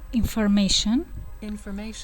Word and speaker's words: information: information استرس روی م و بگم که uncountable هست، غیر قابل شمارشه.